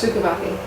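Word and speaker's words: Szukovathy: So we're going to talk about some of those, and then Diane, whose last name I don't know exactly how to pronounce. Sukavathi.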